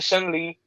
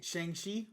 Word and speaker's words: Shang-Chi: And then like like and then we're getting Shen Li or Shin Li, my bad. Shin Li. Shang Chi.